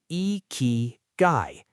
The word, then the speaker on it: ikigai: They had what the Japanese call Ikigai, pronounced Ikigai.